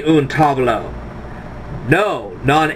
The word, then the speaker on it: tavolo: Un tavolo, no, not tavolo, sorry, wrong pronunciation, try it again. Un tavolo, il tavolo.